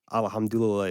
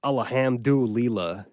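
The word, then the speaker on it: الحمد لله: even 1% Arabic and I know that alhamdulillah is not pronounced alamu Leela like it was extremely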